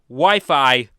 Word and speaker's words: Wi-Fi: early teenage days when I would pronounce wifi wey. Yes, we It's It's strange and funny looking back on it, but I was proven it was pronounced Wi-Fi back during a visit